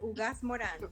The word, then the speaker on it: Ugaz-Moran: Thank Now let me see if I can pronounce this correctly. Ugaz-Moran. That's perfect. Ugaz-Moran.